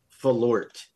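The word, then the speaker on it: forlat: which means fart uh according to the pronunciation on this website it's flort flort the RS in the wrong place it's f o r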